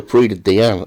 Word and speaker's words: Prix de Diane: Yeah, the Prix de Diane. Or have I got that all wrong? No, it's called the Prix de Diane.